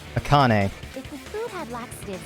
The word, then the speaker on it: Akane: Oops, I've been saying her name wrong. What the hell am I saying? Akane.